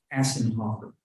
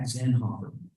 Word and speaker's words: Zinhofer: Assenhofer. Am I pronouncing that correctly? No, sir. It's at Zinhofer, at Zin. At Zenhofer.